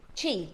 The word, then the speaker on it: chi: Do you pronounce that? Chi chi.